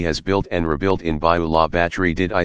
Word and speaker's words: Bayou La Batre: viola battery you that's in Alabama people you by law battery is a rural town of about 2,500 people